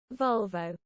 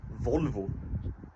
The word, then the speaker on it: Volvo: You pronounce it Volvo. Volvo. Volvo. Nah, it's Volvo, mate.